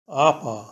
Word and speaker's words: upper: আপা, এখানে ইউ এর উচ্চারণ বাংলা বর্ণ আয়ের মতন হয়েছে।